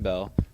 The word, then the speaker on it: Beall: name and your major my name is Bell uh spell my name yes my name is Bell s t v n b a l l